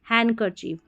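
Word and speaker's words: handkerchief: हैंकर चीफ Wednesday और हैंनकर चीफ। इस तरीके से इसको पढ़ना है।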